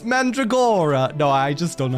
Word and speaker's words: Mandragora: Garlic, mandragora, eggplant, onion, garlic, and tomato.